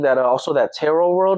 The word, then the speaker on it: tarot: I feel like that also that tarot world right there, man. Yes. That's how you pronounce it, right? Tarot?